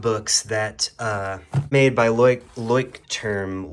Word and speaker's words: Leuchtturm: that uh made by Leuchtturm Leuchtturm, whatever you say. I saw somebody say "trum" and I just don't It's kind of interesting how those letters get pronounced the other way by that one person.